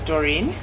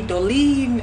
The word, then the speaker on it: Dorine: brand name all right so my name is dorine uh but uh people usually can't pronounce the RS and the L's it's a Malawi maybe it's because of our dialect so people call me dolene and I never really